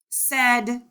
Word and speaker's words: said: struggling with the word said because it sounds like s e d not s-a-i-d this gives you the